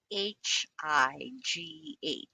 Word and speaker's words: high: First, when GH is at the end of the word, GH can be silent. So the last sound will be the vowel sound. H-I-G-H. I. High. High.